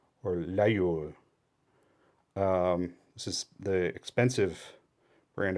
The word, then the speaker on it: Laguiole: Oh, I skipped the how do you pronounce this? Laguiole, or Laguiole.